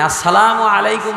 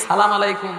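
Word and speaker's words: السلام عليكم: মাথা নাড়ায় কত ভঙ্গি সালামের উচ্চারণ ঠিক নাই আসসালামু আলাইকুম বলবে সেখানে সালামু আলাইকুম সালামু আলাইকুম কত ধরনের কত ভঙ্গি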